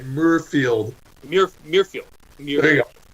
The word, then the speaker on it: Muirfield: to agree with you Murrayfield I don't wanna say it right Muirfield York Muirfield yeah what's it like like the John Muir Trail I guess I know what the